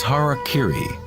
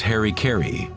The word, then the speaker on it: harakiri: suicide or seppuku was harakiri was often mispronounced as Harry Cary it means to impale